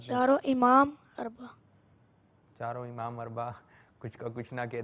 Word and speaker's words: اربع: جی, امام اربع. امام اربع, تلفظ صحیح کیجئے.